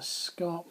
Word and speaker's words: scarp: uh chalk Here is known as the scarp slope which rhymes with sharp so hopefully you can